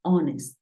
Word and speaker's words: honest: Pero hay algunos casos, como 4 palabras en las que la H es muda. Por ejemplo, hour, que es hora. Tenemos honor y tenemos honest.